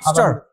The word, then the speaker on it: master: Master. Allah subhanahu wa ta'ala ki? Master. Master. লাস্টে আর উচ্চারণ হবে না মাস্টার আল্লাহ সুবহানাহু ওয়া তাআলা